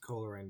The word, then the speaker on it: Coleraine: It's pronounced Coleraine, by the way.